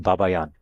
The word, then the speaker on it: Babayan: He pronounces it Babayan. Baba Yan.